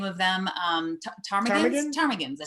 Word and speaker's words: ptarmigan: Ptarmigans, I think. Spelled with a P, I believe. PT or TP or something.